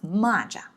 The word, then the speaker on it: 蚂蚱: Yeah, I know it's exactly the same 汉字, but it just pronounced it a little different. When it's the 马, it's 蚂蚁. When it's 骂, it's 蚂蚱.